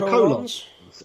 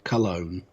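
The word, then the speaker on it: Colón: And then we've got the The Colons. Epico and Primo. I think And it's the- pronounced Cologne, but yeah, Yep. okay. Not colon.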